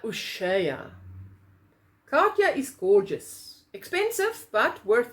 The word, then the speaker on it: Katia: from jehovah crochet says you call it you pronounce it katia ushaya katya is gorgeous expensive but worth it now this